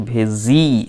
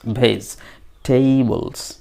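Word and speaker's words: vegetables: আমি বলেছিলাম যে ভেজিটেবলের উচ্চারণটা কিন্তু ভেজি এইভাবে নয়, ভেজ, ভেজ টেবলস, বলুন তো, ভেজিটেবলস, ভেজিটেবলস।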